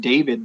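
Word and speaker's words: Deivid: new guy his name i think it's just pronounced david but it's spelled d-e-i-v-i-d and uh i ran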